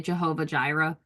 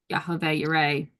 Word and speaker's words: Yahweh Yireh: Yahweh, people say Jehovah Jireh because they pronounce the J's. We know there's no J in Hebrew, so Yahweh Yireh, Jehovah Jireh, God provides.